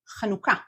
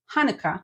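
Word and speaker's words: Hanukkah: you're probably pronouncing it Hanukah is to change your H sound in Hanukah to kanuka no need to shift the syllable stressing here kanuka our next word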